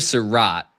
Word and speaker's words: Sarrett: So, so Elijah Surat is how he pronounced his last name.